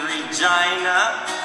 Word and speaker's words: Regina: always a fun day living in Regina cuz it rhymes with a cute angina we have a stadium